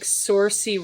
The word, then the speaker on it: Saoirse: It's looks like Saoirse Ronan, Tom Holland, George McKay.